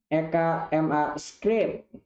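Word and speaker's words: ECMAScript: Sering diucapkan EKMA Script.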